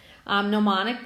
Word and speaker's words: gnomonic: type of projection is mnemonic so the G is silent you don't actually pronounce it gnomonic projection is made by